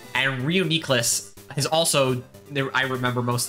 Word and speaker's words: Reuniclus: Gen 5 Pokemon Reuniclus, most people pronounce it Reuniclus, is actually pronounced Reuniclus. I think Reuniclus sounds better, but it is Reuniclus.